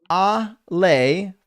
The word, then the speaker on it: Ale: Melatonin says, pronounced Ale for Alejandra.